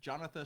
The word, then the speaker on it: Jonatha: Jonathan spelled like Jonathan, but without the N.